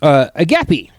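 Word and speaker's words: agape: Agapi. That's how you say it. A G A P E. Um Read article. Let me know if I'm saying any of these correctly. Agapi.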